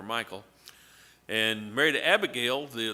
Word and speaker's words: Michal: Saul's daughter, Michael. That's how I would pronounce it. M I C H A L. Michall. Mhall. I'm not sure how she pronounced it, but she is not here to correct me, so I'm going to call her Michael.